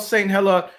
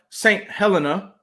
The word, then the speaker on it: Saint Helena: talk to us about saint heller saint helena that's how you say it correct right give us a